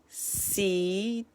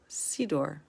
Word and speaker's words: siddur: Siddur. Siddur, also known as a siddur. Say, der, like a seder.